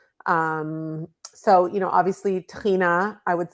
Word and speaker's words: tahini: Um, so you know, obviously Tina I would say is, you know, my friend Mike Salomonov calls it the mother sauce of Israeli cuisine and, you know, it rhymes with Adena, so it's it it